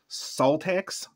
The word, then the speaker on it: Szaltax: siza but I don't I don't think it's pronounced siza I think it's pronounced salax ZX ZX maybe I